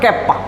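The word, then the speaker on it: kappa: कैपा अगर spelling बोले तो के ए डबल पी ए ऐसा लिख सकते हैं। बट कैपा बोलिए कैपा।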